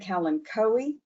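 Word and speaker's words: Kalanchoe: we talk about propagation some people may pronounce that word calencoe either one pick your way of talking about it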